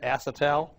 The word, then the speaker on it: acetal: The generic name of Delrin is acetal, sometimes pronounced acetal, spelled just like it sounds, A-C-E-T-A-L.